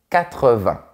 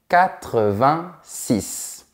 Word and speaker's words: huit: Mais attention, quand tu as un mot qui commence par une consonne ou un H aspiré après, tu ne dois pas prononcer la dernière lettre.